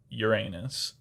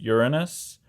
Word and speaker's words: Uranus: Or if you like butts, Uranus. I love butts. I went so long in my life before somebody told me, no, it's pronounced Uranus.